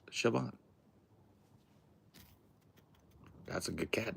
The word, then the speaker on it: Siobhan: But it's pronounced Siobhan.